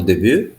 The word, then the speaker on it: début: ओ डेब्यू Au début? O? सो Okay. We'll डेब्यू perfect the pronunciation of these keywords, right?